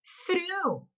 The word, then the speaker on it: through: Então, quando você for pronunciar essas palavras, ignora o GH, não se importa com eles.